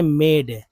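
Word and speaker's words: made: ये देखिए, ये लिखते हैं मेड, मेड मेड, तो एम के बाद ए है, डी के बाद ई है, तो ए का उच्चारण जो है ए के रूप में हो रहा है ना, तो मे, और डी के बाद ई है तो ड, मेड। ई का उच्चारण नहीं हो रहा है यहाँ पर, सिर्फ ई जब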